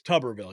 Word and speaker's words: Tuberville: It's Tuberville, yeah. Bathtub, yeah.